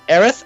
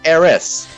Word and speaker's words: Aerith: well actually uh question how is it pronounced aerith or Eris depending on uh which country you're playing yeah memory serves the original Japanese it's Aries or air air I think it's air wreath in in the Japanese version you have